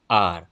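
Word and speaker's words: hour: She will reach in एन आर। आर एच यहां पर silent है और वोवेल साउंड यहां पर आ रही है।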